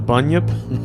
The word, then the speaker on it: bunyip: believe it's pronounced the bunyip I wanted you to just say a really easy word I believe it's pronounced ghosts it sounds like a bunion yeah it just grows